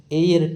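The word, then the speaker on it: heir: एच ई आई आर एच ई आई आर इसमें H silent होता है और एयर बोलते हैं इसको तो इसके अंदर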